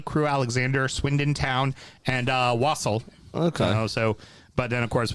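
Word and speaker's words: Walsall: It's pronounced wassail.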